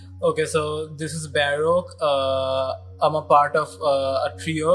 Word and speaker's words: Baroque: basically we have Baruch with us, and I didn't know that the pronunciation was Baruch. I used to call him Baruch.